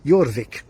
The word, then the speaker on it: Jorvik: And of course, the Vikings, when they conquered York in 866, they called the place Jorvik. Written with a J, pronounced with a Y, by us anyway.